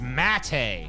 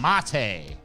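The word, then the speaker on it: Maté: it's Mate. I was still saying it wrong. I was saying Mate.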